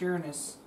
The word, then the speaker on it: Uranus: It's pronounced Uranus.